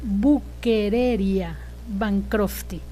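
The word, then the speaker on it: Wuchereria bancrofti: con doble b y con ch pero se pronuncia buquera bancrofti y también es una enfermedad metaxénica transmitida por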